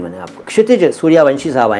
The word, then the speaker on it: क्षितिज: कोई बोलता होगा क्षितिज, कोई कहता होगा क्षितिज। दोनों गलत हैं, क्योंकि आप जानते हैं लेकिन सब नहीं जानते कि आपके नाम का सही उच्चारण है क्षितिज। क्षितिज, के से स्टार्ट करिए, क्षितिज क्षितिज क्षितिज।